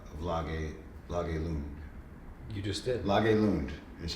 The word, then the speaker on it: Lage Lund: Lage Lund is how you pronounce his name.